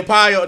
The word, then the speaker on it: Paolo: Yeah, Paolo. That's how you say his name? Paolo.